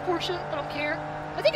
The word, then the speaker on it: Porsche: and uh there's the Porsche name yes it's pronounced Porsche I don't care I think I said that